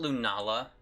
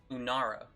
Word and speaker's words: Lunara: Not Lunala. What was it again? Lunara.